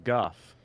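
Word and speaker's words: Gough: name is spoken and it's pronounced Guff so people theorize that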